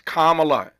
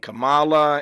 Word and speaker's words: Kamala: saying for months now how to pronounce her first name it's Kamala it ain't Kamala it ain't camela it's Kamala and we keep saying